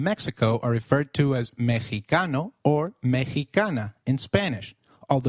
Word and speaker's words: Mexicano: Did you notice that the X in Mexicano is pronounced as H? While X is usually pronounced as X inflexible, it is pronounced as a throaty H in the words Mexico, Mexicano, and Oaxaca, which is a state in Mexico. So, can you try saying Mexicano? It is called Mexicano. The other thing that you